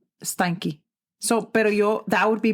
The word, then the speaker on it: Steinke: I think, really quick, I think I was saying his last name wrong in the first part. I think I just said Stain, but it's Stein, like Steinmart. Oh. You remember that store? I do remember that store. But it's Steinke.